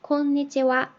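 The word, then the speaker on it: こんにちは: 하고서 오늘은 이라고 이렇게 축약된 형태로 이게 굳어져서 관용적인 인사말이 된 거기 때문에 얘는 주격 조사처럼 생각을 하시고 konnichiwa 이렇게 발음을 하시면 됩니다.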